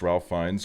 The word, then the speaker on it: Ralph Fiennes: Ralph Fiennes is pronounced Ralph Fiennes.